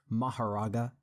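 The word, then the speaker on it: Mahoraga: Alright, so since Seth is pushing 50 and is losing his ability to speak properly, he asked me to pronounce a name for him, specifically Maharaga, also known as Makora, but no one calls him that.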